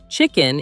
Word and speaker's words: chicken: Chicken is the bird we eat. Kitchen is the room where we cook. The trick is the first sound. Chicken starts with a ch sound, like chair or cheese.